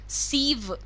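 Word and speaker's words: sieve: यू can call it अ सीव, सीव इसका pronunciation is सीव एंड a strainer.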